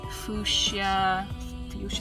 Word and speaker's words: fuchsia: I kind of want to do a like fuchsia.